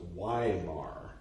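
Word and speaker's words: Weimar: weymar e-i-e-i e i my name r e i b should be pronounced so ymar Y Mar got it okay sorry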